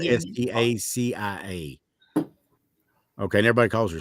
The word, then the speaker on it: Stacia: It's spelled Yeah. Stacia. Okay, and everybody calls her Stacy. Well, hell, I call her Stacy, but it's actually pronounced Stacia.